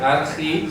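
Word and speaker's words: ἀρχή: Argi, se pronuncia así como argi.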